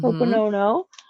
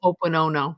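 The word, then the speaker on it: Hoʻoponopono: Hoponono. And the Hoponono goes, Ho'oponopono. Well, I said it wrong, but you I got what could I be, it says, I love you.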